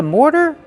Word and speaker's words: mortar: More plus the fast D.